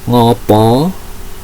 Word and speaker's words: ngapa: Basa Jawane ngopo atau kena ngopo, tulisannya ngapa atau kena apa, tapi cara membacanya ngopo atau kena ngopo, kena ngopo.